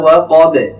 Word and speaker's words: وقب: এটি ভুল হবে, সঠিক উচ্চারণ হবে ওয়া মিন শাররি গাসিকিন, গাসিকিন ইযা ওয়াকাব, ইযা ওয়াকাব। ওয়াকাব, ওয়াও এখানে পাতলা, কফ এখানে মোটা, এবং শেষে যে বাটি এসছে বাটিও পাতলা হবে।